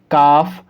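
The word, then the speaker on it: calf: जब कभी भी एफ से पहले एल को लिखा गया होगा तब एल साइलेंट होगा। जैसे कि इस कंडीशन देखिए, एफ है और एफ से पहले आपने एल लिखा हुआ देखा, एफ से पहले एल है तो यहाँ पर एल साइलेंट होगा। तो हम इसको क्या पढ़ेंगे? काफ, और इसको हम क्या पढ़ेंगे?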